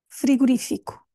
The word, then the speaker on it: frigorífico: um chapéu ou seja temos um assinto gráfico e é super útil porque nos ajuda a ver onde é que temos de focar portanto é freo fico se não houvesse esse assento a rainha estaria na penúltima silba seria friguri friguri frigorífico eu nem sei dizer bom seria no Fi e não no ri frira frira Este é